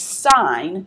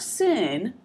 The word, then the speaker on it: sine: abbreviated as SI n that is sine not sinned we have cosine which